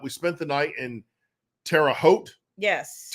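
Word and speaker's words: Terre Haute: broke it up we spent the night in Tera hot yes terot did I pronounce that right yes yes Indiana nice stay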